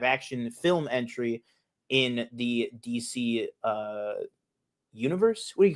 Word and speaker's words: DCU: Like the the C in DC is silent. It's not the DCCU.